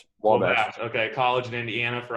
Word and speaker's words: Wabash: Am I pronouncing that correctly? Wabash.